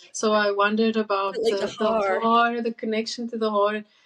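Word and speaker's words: haar: as well and so I wondered about the hor the connection to the hor some some some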